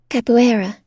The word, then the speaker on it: capoeira: Capoeira.